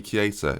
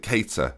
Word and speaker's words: Keita: Naby Keita. Is that not right? Is it Keita? Maybe it's Keita. Naby Keita. Yeah, that sounds... Yeah, okay, fair enough.